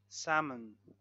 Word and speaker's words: salmon: We say talk, we remove L. Walk, yawk, half, cough, or calf. And salmon, salmon.